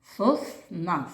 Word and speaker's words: сосна: Сосна. Скільки тут складів? Правильно, два склади, діти. А який наголошений склад? Сосна. Сосна. Правильно. Другий склад наголошений.